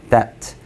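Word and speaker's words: debt: that. B가 묵음이에요.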